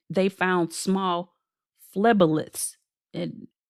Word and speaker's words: phleboliths: Now, what was new on the report was it said they found small phlebolyths. And it's spelled PHLEBOLITHS, phlebolyths, which is basically small blood clots in the vein that harden over time due to calcification.